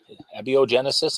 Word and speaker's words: abiogenesis: into because they frequently are into uh abio abiogenesis am I pronouncing that correctly yeah and uh the big